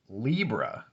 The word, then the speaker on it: Libra: okay so this is the libra reading which rhymes with zebra reading now what we get